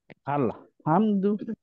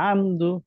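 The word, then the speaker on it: الحمد: মামা বলেন তো আলহামদু আলহামদু না হা হয়ে যাচ্ছে হা মুখ মুখ খুলে যাচ্ছে মুখ খুলবেন না মুখটা ছোট করে আলহামদু হ্যাঁ এইবার ঠিক আছে আহাদ আহাদ গুড আমরা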